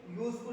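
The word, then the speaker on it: useful: अगर हम इसके प्रोनाउंसिएशन की बात करेंगे, साउंड की बात करेंगे, तो पहले या आया है, ना कि पहले बड़ा ओ की मात्रा आई।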